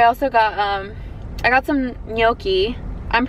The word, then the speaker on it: gnocchi: But someone in my comments told me that it's not pronounced gnocchi, and that it's, ooh, big ass truck, blocking the sun. That was nice. It's not pronounced gnocchi, it's gnocchi or something like that.